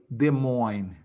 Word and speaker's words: Des Moines: No, we say Des Moines.